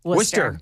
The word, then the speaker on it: Worcester: I grew up in Massachusetts where the town is spelled Worcester, but it's Worcester. Worcester. It's spelled Peabody, but it's Peabody.